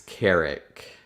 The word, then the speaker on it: Carrick: um my name is carrick um that that is my actual name so like eric with like a c or k before is how you pronounce it and that's what you